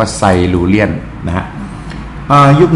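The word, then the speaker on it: Silurian: ยุค ไซ ไซลูเรียน ไซลูเรียน อ่าน ว่า ไซลูเรียน นะ ฮะ อ่า ยุค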